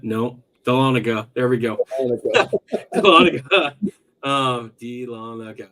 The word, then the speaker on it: Dahlonega: was Charlotte um I completely forgot how to pronounce that word galladega no Dahlonega there we go um okay okay uh New